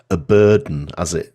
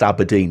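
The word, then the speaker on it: abrdn: I mean, it reminds me of when Aberdeen Asset Management rebranded themselves as a burden, they still say it's pronounced Aberdeen, but it's just ABDN, isn't it?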